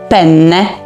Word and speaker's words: penne: czym mówię o makaronie o piórkach penne tam jest dwa n w środku penne musimy wydłużyć to n ponieważ jak